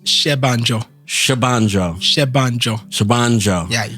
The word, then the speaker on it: Senbanjo: all out how do you pronounce it it's pronounced shanjo shanjo shanjo shanjo yeah you got it you